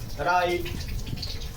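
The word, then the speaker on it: write: क्या है, यदि किसी वर्ड के शुरुआत में डब्ल्यू के बाद आर आता है तो प्रायः डब्ल्यू का उच्चारण हम नहीं करते। For example राइट, Rome, रिस्ट, इटीसी।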